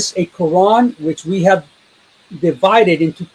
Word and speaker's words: Quran: He recited the word without the Hamza, such that Quran would rhyme with the English word lawn. So Quran, lawn.